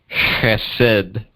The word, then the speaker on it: Chesed: Although the proper pronunciation, I'm sure, is closer to CHESED. Yeah. But I'm not doing that every time, so I'll just say CHESED.